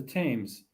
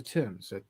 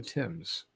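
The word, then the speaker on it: Thames: way that's what threw me off it's the teams no no it's the Tims that's how it's pronounced t-h-a-m-e-s is the Tims ask anybody from England and Meandering Mike comes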